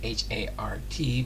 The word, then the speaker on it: Hart: Yeah, I know it's spelled Hart, H-A-R-T, but Hart can sound like heart, your heart.